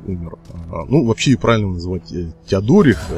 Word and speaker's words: Теодорих: Напоминаю, что самым великим королем Устготов был Теодорих Великий, который создал очень серьезную державу, фактически объединив Вестготское и Остготское государства, потому что, ну, на момент игры, поскольку Теодорих уже умер, ну, вообще правильно называть Теодорих, я прошу прощения, опять же, за неправильное ударение,